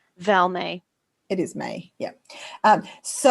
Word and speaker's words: Val May: So just remind me of your mum's name, her pronunciation. Val May.